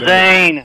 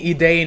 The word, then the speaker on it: Zane: So Zane, I'm gonna take this from you. You keep pronouncing my name wrong. I feel like you're calling me Edain or something. It's Zane. No, Zane.